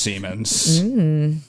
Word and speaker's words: Siemens: No, it's pronounced. No. It's definitely. It's 100% pronounced Siemens.